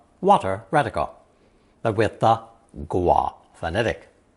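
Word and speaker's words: 蜗: Usually pronounced first tone, gua, gua. Although the dictionary also lists first tone, wo, as an alternate pronunciation.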